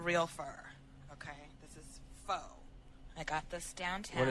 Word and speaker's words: faux: a French word, but I cannot stand when people say fox, because it's spelled with an X that's silent, and people say fox, and it drives me up a wall.